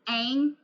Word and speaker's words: Aang: And they better, I swear, they better pronounce it Aang.